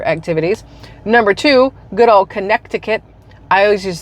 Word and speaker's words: Connecticut: for some reason we know it's Connecticut there's a c in there but nobody says it it's just Connecticut but is little it's Connecticut which sounds really dumb if you say it the way it's spelled now cities like Stamford